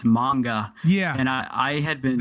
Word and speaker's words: manga: popular like for like magna making it Magne Magne Magne it yeah it's mine it's manga yeah and i had